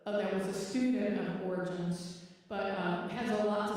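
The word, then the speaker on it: Origen: I would look up origin it's spelled like origin o r i g e n that's how spell name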